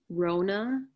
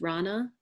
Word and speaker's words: Rona: had my reading done I realized it was done with the pronunciation Rhona but my name is actually been pronounced rana so then i redid